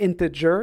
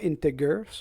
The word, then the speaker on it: integer: Donc c'est integer et non pas integer.